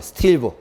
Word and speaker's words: 스틸브: SB 읽을 때는 스틸브라고 읽어요. 스틸브.